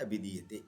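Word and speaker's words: अभिधीयते: Now I will pronounce it correctly. Yaduttamangam Anganam Shirastad Abhidiyate.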